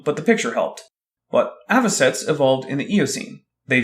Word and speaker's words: avocets: Avocates. Well, you pronounced it wrong, but the picture helped. But avocets evolved in the Eocene.